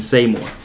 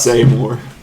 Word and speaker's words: Seymour: Seymour is how you say that. Okay. Because of the butts. Say more. Well, there's a Y. S-E-Y. S-E-M-O-U-R. Muar. Similar. Seymour.